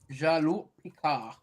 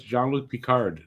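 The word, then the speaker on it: Jean-Luc Picard: Jaloo Picard. No, it's Jal Peicard. They say the whole thing. It's not Jaloo Picard.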